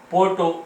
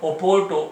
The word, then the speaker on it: Porto: There is a country Portugal, and there is a city Porto or Oporto or Oparta. There is a three pronunciation: Porto, Oparta, and Porto, Oporto, and Oparta.